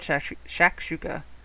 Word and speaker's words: shakshuka: It's really called shakshuka, and it's like an Indian dish.